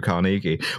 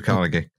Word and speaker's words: Carnegie: about Andrew Carnegie is the reason why I pronounce his name Andrew Carnegie, which is that he demanded, under threat of serious legal action, a correction in every newspaper that pronounced, that suggested his name was pronounced that way. And he insisted to his dying day it was Andrew Carnegie.